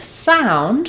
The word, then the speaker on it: sound: And then in the word sound we have the letters o u and we have the dip thong.